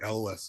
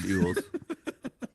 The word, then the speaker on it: Elwes: I always thought it was like Elwes or something like that. Oh, maybe. No, it's Yules.